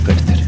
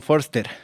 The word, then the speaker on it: Foerster: De hecho, acá en Argentina poca gente lo pronuncia realmente como es, ¿no? Pero bueno, ahí vamos. Se suele decir von Foster, mi apellido, que es una adaptación acá argentina, ¿no? Porque el apellido es de origen alemán y en realidad se dice von Förster.